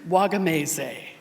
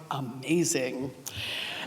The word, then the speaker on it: Wagamese: my best Italian Richard wagamese and he corrected me saying it's not wagamese it's amazing and Richard was coming